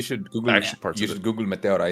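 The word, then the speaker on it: Meteora: You just Google Matera. It's a really beautiful place actually to visit. I'm going right now. How do you pronounce it again? Matera. Mateora.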